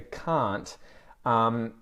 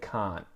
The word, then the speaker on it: can't: An interesting thing there for can't, we can get rid of the T on that, and you'll hear people quite often say can't, can't.